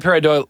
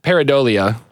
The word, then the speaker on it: pareidolia: Dhulia parent I would I would I would pronounce that peridot pareidolia pareidolia totally hurried oh yeah pair of doilies okay so yeah that's